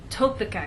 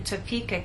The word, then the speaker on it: Topeka: be misunderstood for example if you tell any American that you have friends in topa kenzas they're going to look at you and ask what country is that in what continent is that on but if you move the stress to the correct place and try again tell the Americans that you have friends in toeka Kansas now they'll understand there